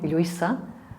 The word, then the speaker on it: Lluisa: Then we have a letter, the L, double L, that can be pronounced as Ya, as in my name, Lluisa, or Ya, as in